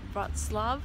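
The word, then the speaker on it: Wrocław: around the city of broad Slav I think that's how you say it I was saying it wrong earlier and just getting some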